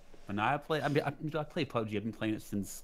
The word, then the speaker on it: PUBG: Really, like, it's not PUBG. It's PUBG. It's PUBG. Come on, man. Everyone takes an acronym and pronounces it.